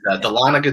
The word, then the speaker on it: Dahlonega: It's Dahlonega, Georgia, as best I can tell.